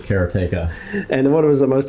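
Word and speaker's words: Karateka: Jordan mackner recently re-released karatica he says katea yeah the way he pronounces it said kartica everyone said karatica and it is katea and what was the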